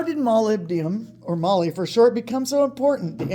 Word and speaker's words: molybdenum: it for but today malebian pronounced molybdenum is almost everywhere in